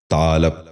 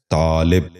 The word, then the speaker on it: طالب: سبق شروع کرتے ہیں۔ پہلا لفظ ہے طالب۔ یہ غلط تلفظ ہے۔ درست تلفظ ہے طالب۔ دوبارہ سنیے، طالب۔ بچوں